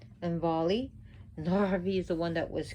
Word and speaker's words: Narvi: And you should roll your R's if you can with the Nordic names, because that's how in the ancient Norse would do. So any of the R's are always rolled.